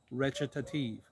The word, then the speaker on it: recitative: on your slide it looks like recitative it's pronounced recitative so a recitative is someone who will half